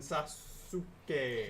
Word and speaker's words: Sasuke: Sasuke okay Sasuke Sasuke there is a quiet quiet a quieted for a new sound you don't pronounce for you but some okay it's like the it's like almost like a short shortened syllable that you don't pronounce assman can knock on